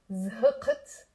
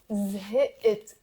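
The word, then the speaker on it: زهقت: And we will not pronounce zhqt, qaf. Yeah, there are the Druze who might pronounce it. We will pronounce it zhit.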